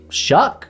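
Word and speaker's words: Shough: You got Tyler Shuck. I believe that's how you say his last name. It's not spelled that way, but I think that's how it's pronounced.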